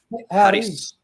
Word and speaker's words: Harris: It's like Harris. Roll your R, Harris.